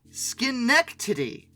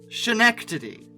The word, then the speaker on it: Schenectady: wheelers built by the hold on a second Schenectady not Schenectady I've gotten so many comments on my Alco video about this I apologize it's pronounced Schenectady okay now I know originally constructed by the